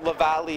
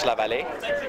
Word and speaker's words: Laval: Well, Lavallee is closer to how you say it in French, Lavallee.